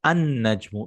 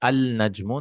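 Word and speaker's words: النجم: You're not pronouncing the lam, right? The sun burns away the lam. You can remember like that. Shamsiya means the lam goes away. So najmun, a star. An-najmu, not al-najmu.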